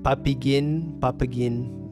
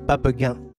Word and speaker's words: Papigan: Yeah, I often hear like Papigan, but it's actually pronounced Papigan.